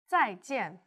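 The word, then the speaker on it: 再见: which is a falling tone repeat after me tsai-tien very good now let's watch our skin that's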